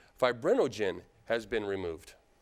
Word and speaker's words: fibrinogen: plasma from which the fibrinogen I've mispronounced that the first time fibrinogen has been removed it's